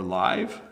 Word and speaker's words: live: Alexander says live or live versus leave, night versus night. So here's the tricky one. I live in Canada. This is a live stream. Okay, so notice the same word, two pronunciations.